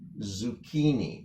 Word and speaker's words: zucchini: So almost think of it like the first C is silent and the second C is just like a K or a hard K.